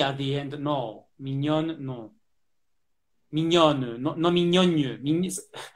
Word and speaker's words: mignonne: Now it's an open syllable, so it's easy.